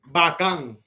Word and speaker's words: bacán: And last, bacán. Bacan. It's not Dominican because we say bacano. Bacana. Bacan. VACAN. Bacán. BACAN. With a accento on the A.